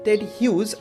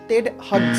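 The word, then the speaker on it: Ted Hughes: দেখো এইখানে যে লেখা রয়েছে টেড হিউজ, উচ্চারণটা কিন্তু টেড হাগস নয় বা টেড হিউজেস এরকমও নয়। We generally call him like টেড হিউজ, ঠিক আছে?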